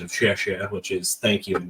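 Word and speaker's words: 谢谢: So we have become accustomed to whenever somebody does anything for us, just saying "xi," which is a very poor pronunciation of "xie xie," which is thank you in Mandarin, I think.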